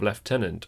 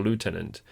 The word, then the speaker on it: lieutenant: All four branches of the first order held the designated rank of left tenant or lieutenant depending on how you want to pronounce it.